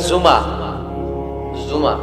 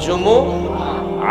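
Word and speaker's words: جمعة: জুম অনেকে বলে ফেলে জুমা জুমা আসলে আরবিতে শুদ্ধ উচ্চারণটা হচ্ছে জুমু আহ আহ সূরাতুল জুমু আহ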